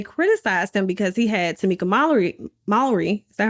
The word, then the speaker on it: Tamika Mallory: But the thing was, they criticized him because he had Tamika Mallory. Is that how you say her name? Yeah, Tamika Mallory.